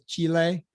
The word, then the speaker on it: Chile: i used to say i used to say chili now everyone says chile so i don't know i was like chili like the food oh